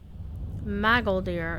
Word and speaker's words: Magoldir: Magoldir. Because I'm used to emphasizing stuff mostly on the second syllable, so it's hard for me to say Magoldir. That's the way the voice actor pronounced the name.